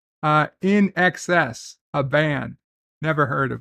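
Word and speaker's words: INXS: And Dan Ben thinks it's pronounced In Excess, NXS.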